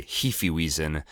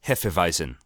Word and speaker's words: Hefeweizen: in the bar there somebody orders a Heaphy wiesen and Verna corrects him it's pronounced Hefeweizen Mike excuses himself I